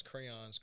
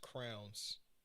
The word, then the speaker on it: crayons: don't like people who who pronounce crayons crowns why do some people say crowns i was literally just